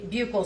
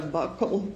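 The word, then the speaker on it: buccal: Now, um can you tell the jury what a bugle swab is? So, a bugle swab or a buckle swab, depending on different people say it different ways. It's spelled B U C A L.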